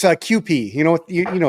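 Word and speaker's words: Kewpie: about somebody with Asian and so it's called QP and it's not spelled QP it's just that's the way it's pronounced I don't don't get me started on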